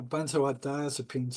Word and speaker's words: benzodiazepines: Yeah, benzodiazepines.